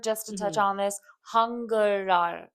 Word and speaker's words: 한글날: record, just to touch on this, 한글날. It's That's right. pronounced 한글날.